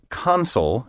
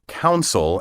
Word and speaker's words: consul: words are often mispronounced counsel and counsel it as if the first syllable were spelled c-o-u-n instead of c-o-n there is no council in consul and consulate and these words have